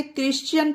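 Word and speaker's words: Christian: okay अब यह देखिए यह है क्रिश्चियन पढ़ा जाता है इसे क्रिश्चियन इसमें भी एच साइलेंट है इसमें भी हा कहीं पर प्रोनाउंस नहीं हुआ उ सी तरह से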